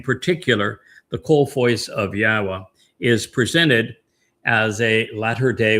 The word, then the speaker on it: Yahweh: And haya tells us how to pronounce the y the yod and the two hays in Yahweh's name. It's hi yah.